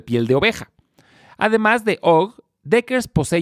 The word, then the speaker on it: UGG: salir a bolsa su marca más conocida es ogog que se escribe ugg y es muy famosa por sus